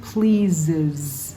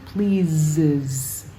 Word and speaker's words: pleases: Lift Up verse 29 pleases it's like Z's at the end pleases verse 35 has